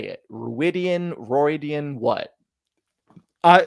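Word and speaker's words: Rhuidean: ruidan ridian what I so the show my impression is that the show is gonna say it ruidan okay that's fine that's which we'll see how much that pronunciation holds across cultural groups and timelines and all those sorts of things but Rosman Pike said ruidan in our interview so that is what I'm going with um I now feel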